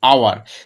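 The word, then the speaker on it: hour: কিন্তু যদি কনসোন্যান্ট থাকা সত্ত্বেও তার উচ্চারণটা না হয়, দেখো আমরা কেউ বলি না হাওয়ার, আমরা কি বলি আওয়ার, তাহলে এইচ থাকলেও তার উচ্চারণটা হচ্ছে না, উচ্চারণটা উজ্জ্বল হয়ে যাচ্ছে, সেক্ষেত্রে কী হবে, অ্যান।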